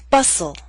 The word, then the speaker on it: bustle: Christmas only Christmas now here's a list of words in which a t- sound is left out note that this list is not complete listen as I say the words bustle Christmas hustle mistletoe whistle wrestle now bustle and hustle